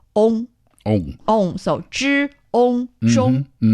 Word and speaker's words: 中: Yet when put together, it's pronounced ong. Ong. Ong. So 知 ong 中.